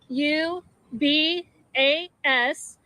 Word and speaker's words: Lubis: That's spelled J O H N. Lubis Lu Bas.